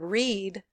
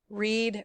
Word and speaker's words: read: one is the verb read read read read the spelling is the same but the pronunciation changes anyway if you know